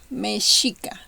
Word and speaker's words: Mexica: Okay, and the third kind of pronunciation will be like a smooth sh. Mexica.